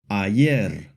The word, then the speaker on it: ayer: The letter Y in Spanish usually makes a hard Y sound like in the words Y o Ayer.